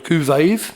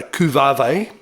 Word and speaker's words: Cuvave: in love with it i would have called it a coup vave but he insisted on calling it a cuvave which um is the only way you can pronounce this pedal and i think he